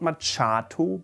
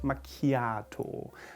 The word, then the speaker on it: macchiato: should say latin macchiato not machato but makiato which one do you like